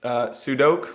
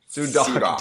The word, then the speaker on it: Sudock: I am here today with Harry Sudock, which I've been Sudock. Damn it! I realized I've been pronouncing it wrong for 4 years. That was my attempt at fixing it, and I still botched it.